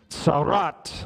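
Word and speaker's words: צרעת: about something in particular called Sarat say it with me roll your R real goodat Sarat let me just give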